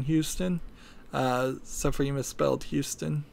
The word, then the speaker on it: Houston: It's pronounced Houston in Texas and spelled that way, and it's spelled exactly the same way in New York. There's an area in Manhattan called Soho, which stands for south of Houston, Houston. So it's spelled exactly the same way, pronounced differently. Houston, from what I heard,